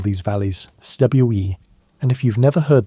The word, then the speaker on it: cwm: It rhymes with boom, but starts with a soft, almost musical consonant that exists nowhere in English.